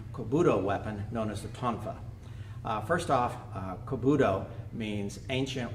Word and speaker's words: Tonfa: The Tonfa, there are several Okinawan dialects, so I've heard it pronounced Tonfa, Toifa. We're going to call it Tonfa because that's what practically everybody uses.